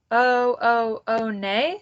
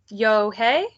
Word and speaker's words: Unhei: scrunching up her face oh oh oh nay some kids chanted no no moon corrected it's spelled u-n-h-e-i it's pronounced yo-hay the boy said like you hey what about hey you just then the bus